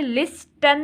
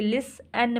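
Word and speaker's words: listen: टी ई एन लिसन अब इसमें T silent है वो कैसे लिस्टन नहीं हम बोलते लिसन बोलते हैं तो इसमें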